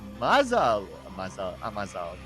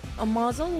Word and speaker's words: Amazal: But Amazal, that's how to say it in Malay. Lots of yellows Should on we it. pronounce Amazel or Mazel? Amazel is so American. You know, So English. it's so English. You know, it's Amazal.